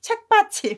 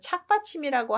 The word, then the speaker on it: 착받침: 착받침을 계속 발음하다 보면 발음이 어떻게 나와요? 착받침, 책받침 이렇게 나오죠. 그래서 보통 책받침이라고 발음하지만 진짜는 착받침이라고 하는 게 맞다고 합니다.